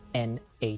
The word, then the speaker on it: nat: language it's called natat spelled n a t but pronounced more like na there's a practice called